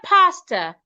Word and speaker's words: pastor: However, in the word pastor, the letter A here makes a long sound.